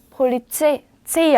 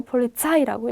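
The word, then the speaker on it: Polizei: 그래서 마이, 바이에른, 로렐라이, 폴리체이 아니고 폴리차이라고 읽으셔야 됩니다.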